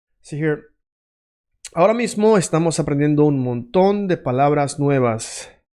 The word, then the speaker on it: aprendiendo: Right now, we are learning, aprendiendo. Aprendiendo is a bit of a long word. Aprendiendo, 4 syllables, okay?